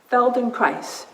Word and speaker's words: Feldenkrais: of somatic education Darlan what Feldenkrais rhymes with fel them nice alright so I invite